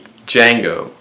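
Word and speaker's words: Django: always Al it's me D Jango the D is silent I took your wife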